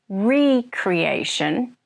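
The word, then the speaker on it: re-creation: and it does sometimes if the word is pronounced Recreation it does mean to make something again like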